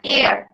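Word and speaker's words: heir: আর section 3 একটা নতুন term পেলাম আমরা, এয়ার। এটা কখনোই হেয়ার উচ্চারণ করবে না, এটা অনেকেই দেখি স্টুডেন্টদের টেন্ডেন্সি থাকে এইচটাকে উচ্চারণ করার জন্য, বাট এইচটা কিন্তু সাইলেন্ট থাকে।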